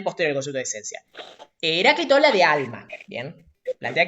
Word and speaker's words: Heráclito: Primero, se pronuncia Heráclito, ¿bien?